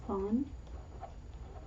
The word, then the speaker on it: zwanzig: Now didn't I say it's not zwei? Yeah. It's zwanzig.